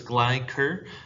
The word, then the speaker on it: Gleicher: to pronounce my name it is a hard k sound with the ch okay so it's glicker um but anyways okay